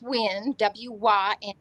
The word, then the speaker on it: Win: My name is Wynn, Wyn, but it's spelled Win as in winner.